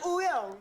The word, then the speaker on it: Wooyoung: I'm Wooyoung.